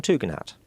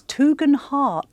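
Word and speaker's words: Tugendhat: candidate Tom something's name Tom tgen hat no it's tgan har oh no and I got that from the horse's mouth not for me it's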